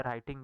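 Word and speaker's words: writing: इसमें डब्लू जो है, राइटिंग में डब्लू साइलेंट है, अर्थमेटिक में ए साइलेंट है।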